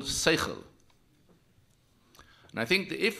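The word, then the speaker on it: שכל: We have a word for that in Hebrew, which is pronounced in a non-Hebrew way, and it's called seichel.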